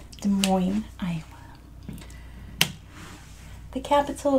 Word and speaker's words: Des Moines: to spell it because the way it's spelled is nothing like how it's pronounced it is the moin so this is Des Moines so you want to